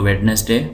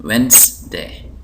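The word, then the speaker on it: Wednesday: इसको पढ़ेंगे वेडनेसडे और मैंने सुना है बाज लोग इसको वेडनेसडे बोलते हैं लेकिन यहां पर इसको हम पढ़ते हैं वेनसडे अंग्रेज इसको पढ़ते हैं वेनसडे वेनसडे तो यहां पर आपको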